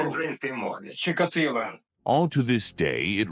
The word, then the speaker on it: Чикатило: Воно українське произноситься Украинской мове. Чикатило.